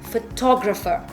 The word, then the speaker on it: photographer: So we add the suffix er and we pronounce the word photographer. So please note the difference in pronunciation.